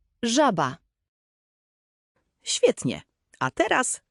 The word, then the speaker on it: żaba: Je jak angielskie ZH w słowie measure. Żaba. Żaba.